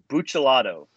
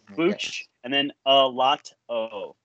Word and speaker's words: Buccellato: It's Buccellato. So it's like Buccellato? Okay. Bucce, and then a lot o.